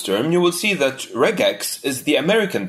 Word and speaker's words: regex: Personally, I pronounce it with a hard G, so regex.